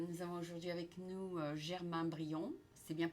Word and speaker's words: Germain Brion: Nous avons aujourd'hui avec nous Germain Brion. C'est bien prononcé?